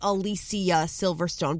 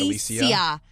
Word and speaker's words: Alicia Silverstone: Looking at other celebrities whose names you might be pronouncing wrong. I've always known it's Alicia Silverstone, but a lot of people through the years